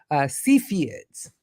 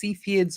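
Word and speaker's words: Cepheids: a little about about seids you pronounce that two ways seids or seids either one is okay okay um yeah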